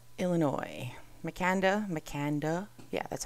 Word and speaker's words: Makanda: Let's talk next about Makanda, Illinois. Makanda.